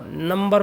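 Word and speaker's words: number: देखिए बी जब भी एम के बाद में बी आता है ज्यादातर बी साइलेंट हो जाता है लेकिन नंबर में साइलेंट नहीं होता है।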